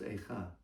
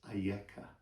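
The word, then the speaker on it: אַיֶּכָּה: Same letters, aleph, yud, kaf, hey, but not pronounced Eicha. It's pronounced Ayeka.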